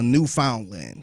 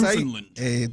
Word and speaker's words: Newfoundland: Is it Newfoundland? I'm sorry. Ain't no Canadians here. Yeah. They're not here to tell us any different. But I think technically it's like that's Newfoundland. That's how you pronounce it.